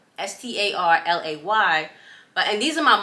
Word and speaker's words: Starleigh: with my name so my name it looks like Star because it's spelled l-e-i-g-h but my name is actually star that's how you say it um and the easiest way to remember that is just act like you laying down and that's how my name was actually supposed to be spelled s-t-a-r-l-a-y but and these